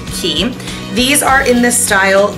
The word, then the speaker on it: Quay: Quay quu a y but it's actually pronounced key these are in the